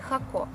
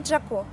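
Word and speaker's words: Jacó: мест в Коста-Рике – городе Хако, или Джако, как его называют американцы, потому что в испанском и английском языке первая буква читается по-разному.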